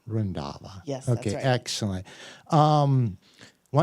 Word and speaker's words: Randhawa: is pronounced Karm jote the last name is pronounced randava okay rindava yes okay excellent um